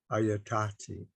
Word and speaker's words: ayatati: have this uh word ayatati now I've I've bolded uh one of the Sounds here because in pronunciation of the language they typically stress the second last syllable right it's it's typical